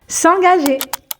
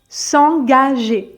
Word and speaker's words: s'engager: dans les situations pratiques s'engager s'engager donc le premier g se prononce gu parce qu'il est suivi de a donc G comme dans garçon et ensuite le deuxème